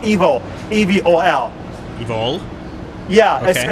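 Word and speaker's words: Evol: second feature movie called Evil. E-V-O-L. Evil? Yeah, okay. It's pronounced evil, like E-V-I-L, but it's love spelled backwards.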